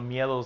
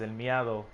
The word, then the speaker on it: El Miedo: I mean, I've seen people, when I was in LALAU, they pronounced El Miedo's name as El Miado.